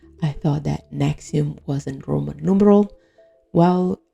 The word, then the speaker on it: NXIVM: Naretti claimed this is pronounced Nexium. Now you tell me how this concoction of letter is pronounced Nexium. That makes no sense.